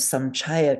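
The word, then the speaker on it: saṃcaya: So we would change samchaya to what letter? To N. Yeah, right. Yeah. Samchaya. It's hard to say correctly, but the main thing is it's an N, not a ma.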